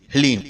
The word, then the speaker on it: ह्लीम: इसमें हा, ला और बड़ी ई की मात्रा और अंक की बिंदी, ह्लीम।